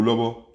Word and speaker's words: lobo: C'est avec une intonation qui monte. Donc, écho, lobo.